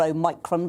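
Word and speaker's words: Omicron: against what i call a micron because that's how i was taught to pronounce the greek letter um i can't see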